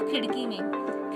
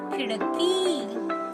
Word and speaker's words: खिड़की: अभी यहाँ देखो आप खिड़की में ये छोटी ई की मात्रा है, इसलिए खो का उच्चारण मैंने कैसे किया? खिड़की, खी। ये जल्दी से किया, लेकिन को का उच्चारण करते समय मैंने बड़ा किया, यानी की, खिड़की, ऐसे।